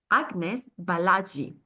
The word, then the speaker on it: Agnes Balazsi: And our guest today is Agnes Balazsi. I hope I pronounced well your name, Agnes.